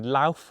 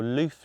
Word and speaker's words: Lauf: Another even more extreme bike is the Lauf, or Loof, depending on how you want to pronounce it, with a mad carbon fibre fork